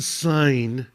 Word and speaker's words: Seine: It's pronounced Seine.